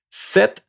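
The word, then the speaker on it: sept: Set. Okay. Set. The pt is going to be just like a set. Set. Okay. This one you pronounce the t at the end.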